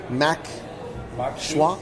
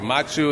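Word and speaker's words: maque choux: Can you tell us the difference between the mac and cheese and the mac schwa? Yeah. I knew I pronounced it wrong. Absolutely. Mac choux is just...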